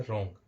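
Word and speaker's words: wrong: डब्लू नहीं right तो हमारा सॉरी यहां पर हो गया रोंग रोंग हम ले लेते हैं रोंग में भी क्या है हमारा डब्लू पूरा तरह साइलेंट है और इसको हम पढ़ते हैं रोंग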